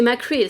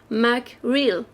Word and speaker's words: Macreel: « C'est Macreel, sergent Chouquette. Tout est dans la prononciation. Macreel.